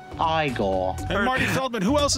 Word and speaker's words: Igor: as he prefers to be called now it's pronounced igor and marty feldman who else is going to